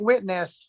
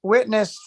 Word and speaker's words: witnessed: a very good pronunciation I think witnessed witnessed you have to say the team you're necessary to say destroy T witness witness witnessed I think that's the